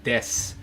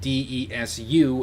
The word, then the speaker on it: desu: But it's spelled D-E-S-U, and you can pronounce, or it's spelled de-su, and you can pronounce the U if you want to. You usually don't.